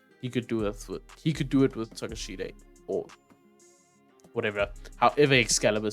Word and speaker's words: Takeshita: But I used to pronounce it as Konosuke Takeshita. Yes, that sounds. It's Takeshita though.